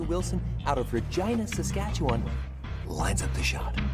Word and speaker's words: Regina: Wilson out of Regina, Saskatchewan lines up the shot. His form looks good. Oh, and that's why Regina rhymes with fun.